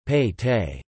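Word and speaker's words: ಪೇಟೆ: Within the fort, the town was divided into smaller divisions, each called a Pete, Kannada pronunciation, Pei Te.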